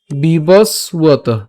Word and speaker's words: বিবস্বত: এখন এখানে কি ব, এটা হচ্ছে আমরা জানি অন্তস্থ ব, আর অন্তস্থ ব থাকলে তার উচ্চারণটা কার মতো হয়, উয়োর মতো হয়। তাহলে এখানে উচ্চারণটা হবে কি, উয়ত, বিবস উয়ত, বিবস বিবস উয়ত।